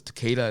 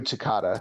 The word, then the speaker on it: Takada: going for the IWGP title against was this Takeda is that how you say his name nobuhiko Takada kata okay so yeah I did watch that